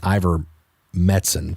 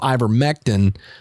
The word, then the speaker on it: ivermectin: about the medicine i i keep saying ivor metzen for some reason but i remember mectin because if you look at the way it's spelled anyway so ivor mektin um if you oh